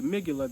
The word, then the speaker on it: amygdala: glands one called the amygdala the ABG dollars what I call it because it's spelled Amy G dollar amygdala they say is responsible